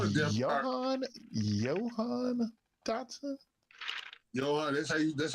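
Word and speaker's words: Jahan: Johan. That's how you pronounce it.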